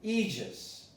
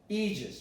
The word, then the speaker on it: aegis: Well, if you have an A-E, you pronounce this as an E, not as an A. And as an eon, aegis, aegis.